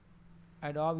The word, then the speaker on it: Adobe: दिया मैंने, BE एडोब, ठीक है, एडोब रीडर, एडोब फोटोशॉप जो आप यूज़ करते हो, एडोबी, एक्चुअली इसका प्रोनाउंसिएशन क्या होता है, एडोबी, ठीक।